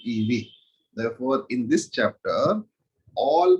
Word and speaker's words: eV: It is pronounced as 1 electron volt, 1 EV.